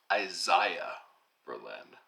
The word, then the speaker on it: Isaiah Berlin: uh by the way probably should pronounce it the way apparently he pronounced it which is isaiah berlin i think berlin is